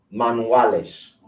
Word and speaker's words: manuales: Manuales. Manuales. I'm hearing manuales. Manuales. This right here is the same as a W.